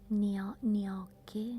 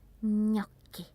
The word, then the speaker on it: gnocchi: And then probably the hardest is the ñ sound, gnocchi. It's not gnocchi, no, ñ. And also we have double consonants, and when you find a double consonant you have to pronounce it really hard. So it's not a gnocchi, it's gnocchi.